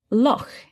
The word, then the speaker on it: loch: unusual word in English because this sound, this ch that you make in your throat, this doesn't exist elsewhere in English. It's a Scottish word as it says in the text. Lo is the Scottish word for lake.